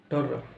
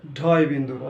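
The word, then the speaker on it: ঢ়: ওকে, এটা কি ঢররা, হ্যাঁ ঢররা ঢররা, এটাই পড়ে আসছি আমরা, ঢররা ঢররা। আসলে কি ঢররা ঢররা নয়, এটা কি কি হবে তাহলে, ডয় শূন্য র, না ডয় শূন্য র নয়, এটা হবে ডয় বিন্দু র, ডয় বিন্দু, শূন্য নয়, কোনো শূন্যর কাজই নেই এখানে, বিন্দু, শূন্য কি শূন্য বলে এটাকে, এটা শূন্য, এটা কি শূন্য, এটা বিন্দু, এটা বিন্দু, তাহলে কি ডয় বিন্দু র, এটা ঢয় বিন্দু র, ডয় বিন্দু র, ঢয় বিন্দু র।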